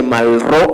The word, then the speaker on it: Malraux: Ojo que se dice Malraux, aunque se escriba Malraux, porque en la Brigada tenemos ha sido un problema que aprender la pronunciación francesa.